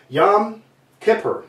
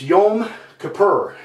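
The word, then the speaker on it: Yom Kippur: the 4th we have yam Kipper now let me say that correctly it's yum ker I always say it wrong and I don't mean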